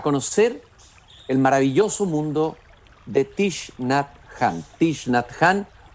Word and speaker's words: Thich Nhat Hanh: Se leía como Thich Nhat Hanh o Thich Nhat Hanh. Después supe que en realidad se pronunciaba ese nombre, que es un nombre vietnamita, como Thich Nhat Hanh.